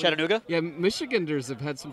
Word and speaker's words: Chattanooga: I've heard it like chat in Nuga several times. Chatting in Nuga. Just like Chatting One of my favorite pastimes. It's like chat and then like just another N that doesn't. It's not even in the word, and then Nuga after that.